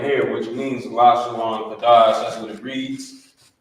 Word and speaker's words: Lashawan: Instead of saying Lashawana, it would just be Lashawan, but because of the connector that's here on the bottom.